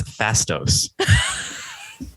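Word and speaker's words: Phastos: Fatso though isn't it I think it's fastos phonetically it it's you could say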